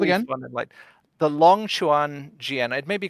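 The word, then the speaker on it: Longquan: This is the Longchuan Jian, so the Long Quan, if you want to pronounce it like that with the Q, LQ Jian.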